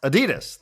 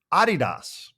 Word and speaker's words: Adidas: And then I said, I I recently learned that Adidas is actually not pronounced Adidas. This is a German company and it is pronounced it is supposed to be pronounced Adidas.